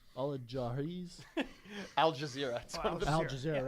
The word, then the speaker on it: Al Jazeera: Al-Jazeera's? Al Jazeera. Al Jazeera. Wow. He's never heard somebody pronounce Al Jazeera.